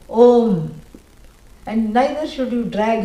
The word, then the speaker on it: Om: Nobody should say Aum. Yeah, that's wrong. You should never come in between the words which are joining to make a new syllable. A plus U, O, Om.